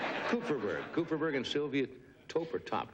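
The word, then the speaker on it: Kupferberg: f e B RG how would you pronounce that exactly as you did cooperberg cooperberg and Sylvia toer top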